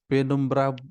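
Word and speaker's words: penumbra: पेनुम्ब्रा या पेनम्ब्रा ऐसे पढ़ सकते हैं, प्रोनाउंसिएट कर सकते हैं, पेनम्ब्रा।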